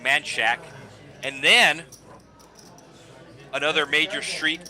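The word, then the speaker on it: Manchaca: So, so the two streets in Austin, you have Machaka, which is the proper Spanish way to pronounce that name, but all the locals call it Manshack.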